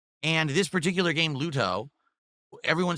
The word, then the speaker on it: Luto: And a lot of people like, "Oh, why does he say such a hard T?"